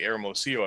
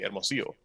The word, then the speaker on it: Hermosillo: I'm not gonna say Hermosillo. I'm gonna say Hermosillo.